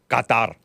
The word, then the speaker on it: Qatar: I believe it's pronounced Qatar. Qatar.